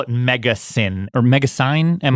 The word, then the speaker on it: MegaSyn: And so they call it MegaSyn or MegaSyn. How do you say it? Yeah, MegaSyn. So it was a really quick name for megasynthesis.